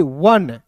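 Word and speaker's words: one: उसी प्रकार देखिए यहां पे ओ एन ई को पढ़ेंगे वन।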